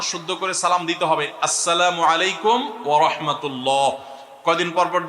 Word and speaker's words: আসসালামু আলাইকুম: শুদ্ধভাবে সালামের উচ্চারণ বাড়ানোর জন্য শুদ্ধ করে সালাম দিতে হবে, আসসালামু আলাইকুম ওয়া রাহমাতুল্লাহ।